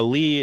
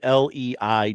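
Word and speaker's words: Leigh: Uh, Lee in this instance is spelled L E I G H.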